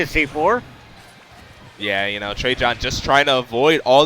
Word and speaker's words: Trejohn: I'm sorry, how you pronounce his name? Trejohn. Trejohn. Okay. Like 3 Johns. 3 Johns, okay.